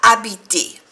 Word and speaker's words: habités: es lugares, habitados, habité, con S que no se pronuncia porque está en el plural, les endroits habités, lugar habitado.